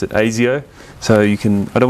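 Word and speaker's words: Asio: for anyone who's been wondering that's how you pronounce it AIO so you can I don't want to hear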